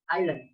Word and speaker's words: island: Not pronounced in a word, such as castle with silent T, island with silent S, and listen with silent T.